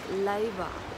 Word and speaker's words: 令和: And yes, we have now a new era name, Raiwa. R-E-I-W-A. So the R is pronounced differently in Japan, so it is more like Leiwa, I believe.